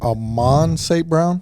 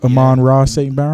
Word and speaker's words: Amon-Ra St. Brown: But with Amon St. Brown, is that how you say his name? Amon-Ra St. Brown.